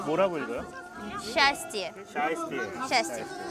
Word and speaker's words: счастье: 뭐라고 읽어요? счастье.